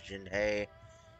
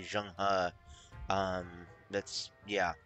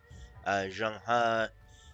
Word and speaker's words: Zheng He: I must serve under the Emperor's nephew, Admiral Jin He, a notorious, spoiled, I think it's actually pronounced supposed to be Zheng He, Zheng He, a notoriously spoiled child of a man.